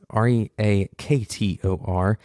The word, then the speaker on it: Reaktor: That's Reaktor.